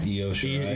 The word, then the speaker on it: Io Shirai: Someone's gonna have to help me with the pronunciation of this girl's name. Io Shirai. Io Shirai.